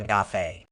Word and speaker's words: gaffe: It's pronounced as gaff, rhyming with laugh but with a hard G sound at the beginning.